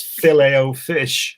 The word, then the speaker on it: Filet-O-Fish: head around, and that's filet-o-fish. I mean, what's all that about? Filet-o-fish? Yeah. Filet-o-fish. There we go. The T is there, and we don't pronounce it.